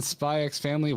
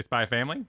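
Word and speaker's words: Spy × Family: do that wait what do you not say ex family are you not supposed to say spyx family you ever pronounce family yeah you don't you just buy family just they spy family I've been saying spy X family for like months I've never been correct yeah never been crazy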